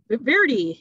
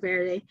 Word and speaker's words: verde: of Spanish words so it would be like Verdi you know instead of Verde and so we played